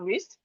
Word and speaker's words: wrist: We have wrist, the W is silent.